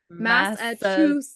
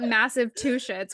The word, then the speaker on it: Massachusetts: Massachusetts.